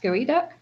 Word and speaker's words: geoduck: You spell it like Geoduck, but it's pronounced Gooey Duck.